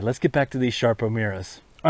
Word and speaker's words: Sarpo Mira: look like sarpo miror but it is definitely pronounced sharpo Mira that's a beautiful plant to pull up right